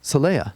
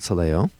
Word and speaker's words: Solea: Solea, not Soleo.